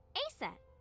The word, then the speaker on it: Aset: Horus's mom is named Isis, but in ancient Egyptian, it's pronounced closer to Ise or Aset.